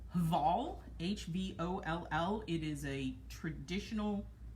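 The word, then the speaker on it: Hvoll: Actually, we have a couple sweaters for Abe, but this one is called, I'm gonna assume the H is silent, Voll, H-V-O-L-L.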